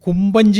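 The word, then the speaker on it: Compagnie: കാരണം അവിടെ ഈ പണ്ട് കുമ്പചി എന്നൊരു വാക്കുണ്ട് കുമ്പി കുമ്പി എന്ന് പറയുന്നത് ഒരു ഡച്ച് വാക്കാണ് സി ഓ എം ബി എൻ ജെ ഇ കൊമ്പി എന്നാണ് അതിന്റെ ഉച്ചാരണം അതിന്റെ അർത്ഥം കമ്പനി എന്നാണ്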